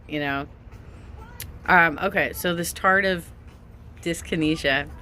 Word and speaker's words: tardive dyskinesia: Okay, so this tardive dyskinesia. I was calling it tardy dyskinesia because that's the way you kept pronouncing it.